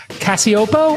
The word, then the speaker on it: Cacioppo: I thought I would bring Cacioppo. I pronounced it correct, I'm hoping?